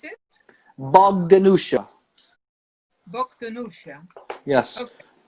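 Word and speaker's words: Bogdanjuša: That J, I think that J, well, J in Croatian is like yeah, but I think that's like a native local way they spell it on Huar because usually it doesn't have the J in there.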